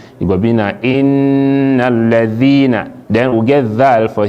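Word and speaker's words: الذين: Sometimes people they pronounce dhal and zai as not the same thing. Man go read and say innal lazina. If you say lazina, you don't change the letter for there, and this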